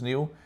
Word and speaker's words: Niall: It's weird because like in Ireland and England it's Niall. I'm thinking only in Scotland it's Neil, but I don't think I've met another Neil spelt my way.